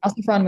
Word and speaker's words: Alciphron: Alciphron, is that, how would I pronounce that, Alejandro? Yeah, okay. Alciphron was dreaming.